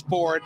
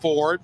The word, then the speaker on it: Fouard: Yes, Ford. Like, it's spelled differently, but it's pronounced Ford.